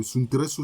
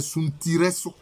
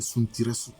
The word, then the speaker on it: Suntiresso: D'ailleurs, Nana Kofi Yeboah disait que le vrai nom de Suntresso, ce n'est pas Suntresso, mais c'est Suntiresso. Suntiresso. La bonne prononciation, c'est Suntiresso.